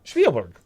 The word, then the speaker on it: Spielberg: I'm saying Spielberg with with Crystal Skull Spielberg Spielberg that's how you pronounce it Spiel Steven Spielberg Steven Spielberg Spielberg